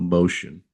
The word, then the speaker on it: Mocean: Uh the product is called Mocean, and it's spelled m o c e a n, like M with ocean.